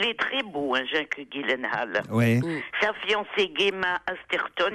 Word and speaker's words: Gyllenhaal: avec Jake Gyllenhaal, car il faut prononcer Gyllenhaal et non pas Gyllenhaal comme je l'ai fait hier ou avant-hier.